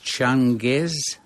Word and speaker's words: Changez: Do I pronounce the main character's name as Changez? That's correct, yes.